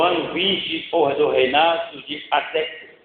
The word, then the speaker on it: Artaxerxes: No mês de Quisleu, no ano 20 do reinado de Artaxerxes. É nome difícil de falar, hein? Como eu pronunciei esse nome? Isso, Artaxerxes.